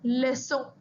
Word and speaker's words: leçon: Next example, la leçon. The lesson. So you can see the sound of C is like an S here. We'll repeat the example again. Un garçon, la leçon.